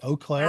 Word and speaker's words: Eau Claire: Lenita Davis with the University of Wisconsin Oakclair on the show today and I pronounced that correctly. Right. Oaklair.